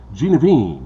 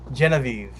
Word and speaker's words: Genevieve: We're going to be talking about his short film, Genevieve. Did I say it right? Genevieve? Genevieve.